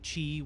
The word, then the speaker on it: Qi: given the title key simply Qi or simply Chi pronounce simply Qi which translates to unpledged